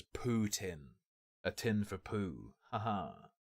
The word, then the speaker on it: Putin: believe you got to call him Putin which is how it's said I believe and you'll see stickers